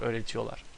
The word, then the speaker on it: öğretiyorlar: Öğretmenler iyi öğretiyorlar, or öğretiyorlar. You don't have to pronounce this R. Most people don't pronounce it, but it's a personal thing. I sometimes do, sometimes don't, depending on my